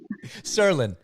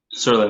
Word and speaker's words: Tsirlin: Am I pronouncing your last name correctly? Let's hear it. Serin. Serin. That's exactly right.